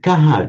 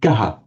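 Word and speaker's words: कः: Chris, when you pronounced this word kaha just then, on its own would be kaha, with that shadow ah at the end. Kaha.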